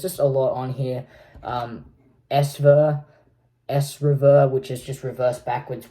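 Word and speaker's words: ESREVER: S-Rever, which is just reverse backwards, which is a track which I found this on my computer, and it was the original track I made for my short film S-Rever, which is technically, it's reverse, written in reverse.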